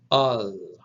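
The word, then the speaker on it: ἀλλ': So alpha, lambda, lambda, pronounced al.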